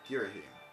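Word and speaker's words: Ghirahim: surface call me I mean girim that's pronounce somehow don't ask in truth I very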